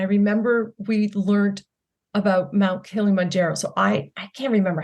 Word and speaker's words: Kilimanjaro: really cool and then also you climbed Mount Kilimanjaro is that how you pronounce it yeah that's how you pronounce it